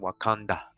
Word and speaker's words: Wakanda: alternate spellings wakanda wakanta in pronunciation wakanda just like in the movie all right it says